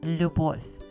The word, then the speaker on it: любовь: It's pronounced любовь.